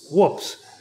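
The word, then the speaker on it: WPPSS: How would you pronounce that? Whoops. Yeah, it was known as Whoops.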